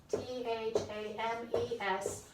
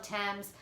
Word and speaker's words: Thames: battle of thames okay spelled like the french river t-h-a-m-e-s thames it looks like thames it's thames okay that's it's french and the great river in london is also called the thames okay um oh i